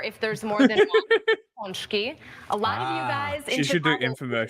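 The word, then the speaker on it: pączki: are talking about this delicacy and it is pronounced ponki help me with this again all right I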